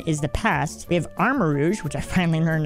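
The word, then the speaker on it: Armarouge: Okay, on the Scarlet side, which, again, is the past, we have Armor Rouge, which I finally learned how to say. It's Armor Rouge, like, you know, the word rouge, which means red, basically.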